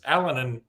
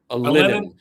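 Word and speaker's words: Alinen: I thought Olis Allen am I saying it right? Or did we ever? Alenin.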